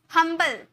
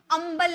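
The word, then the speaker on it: humble: लेकिन यहां पे जब हम पढ़ रहे हैं तो यहां पर एच साइलेंट नहीं है। हम बोल रहे हैं हंबल। अंबल नहीं बोलेंगे। यू से नहीं बोलेंगे। हंबल होता है।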